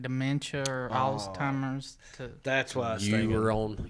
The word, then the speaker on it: Alzheimer's: rights away when they have like dementia or alzheimer's that's why you were on your own what was that last one you said yeah and they're just basically reducing after dependence you said old timers alzheimer's alzheimer's wait did i say that right